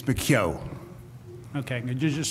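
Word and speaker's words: McKeogh: this point uh the association will call and i probably pronounce that wrong so i will allow him to pronounce it correctly for the morning good morning it's bakyo okay could you just spell your last name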